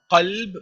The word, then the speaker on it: qalb: Now kalb is a dog, and qalb with a qaf is your heart. So whenever you make a dua, please pronounce the qaf and say, oh Allah, qalbi, my heart, and not kalbi, my dog.